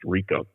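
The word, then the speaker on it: Ricau: name was jimmy rico r-i-c-a-u is a french name pronounced rico uh this uh it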